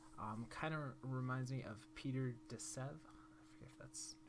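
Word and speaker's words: Peter de Sève: love his stuff kind of reminds me of peter de sev that's correct pronunciation of his name but kind of has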